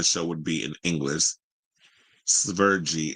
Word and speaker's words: Sverige: Sverige is how you pronounce the country in the Swedish language.